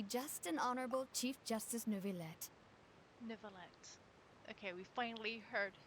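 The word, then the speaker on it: Neuvillette: have the absolutely just an honorable chief justice nuvilette niblet okay we finally heard how to pronounce his name as well as the oratories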